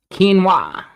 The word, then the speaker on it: quinoa: Quinoa is that's how you pronounce it for sure. Quinoa.